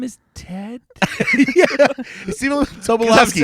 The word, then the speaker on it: Tobolowsky: Although, did you notice that Jake Gyllenhaal said his name wrong twice? Yeah. Tolobowski. He's a good actor. He is, yeah. Stephen Tobolowsky.